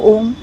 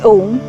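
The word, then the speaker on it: ॐ: universe the first sound this Universal sound is a combination of three syllables a u and Ma when we pronounce om as we say ah the lower portions of the body up to the stomach are activated as we say oo the chest area is activated with ma the face and the brain gets activated the proper pronunciation of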